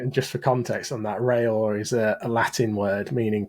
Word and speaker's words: Reyor: And now I've realised that reyor should have been rayor.